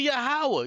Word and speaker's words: Yahweh: Why you ain't cut this nigga off and said, no, it's not Yod-Heh Wav-Heh, it's actually Yahweh, you stupid fucking country niggas.